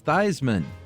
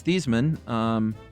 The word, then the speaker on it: Theismann: to ask him, and his dad responded, I've told you, it's Theismann. So it sounds like Joe has made kind of a fun little apocryphal story about this, but it seems confirmed it was Thiesman.